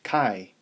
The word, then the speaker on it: chi: an x-squared and it's pronounced chi which rhymes with pi so if a random